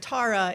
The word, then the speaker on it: Tara: meet your minister, Reverend Tara, is because it rhymes with Laura.